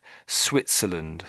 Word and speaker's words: Switzerland: So it's more of a, I would say it's more of an S. Switzerland, Switzerland. Switzerland. It sounds, the S doesn't, it's not quite a Z you're saying. I'm not quite sure the sound at the beginning you're making, but we say it's much more of an S. But it is tricky because it's an S than a W.